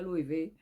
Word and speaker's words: Loewe: Allez, on va dire Loewe. Apparemment, ça se prononce comme ça.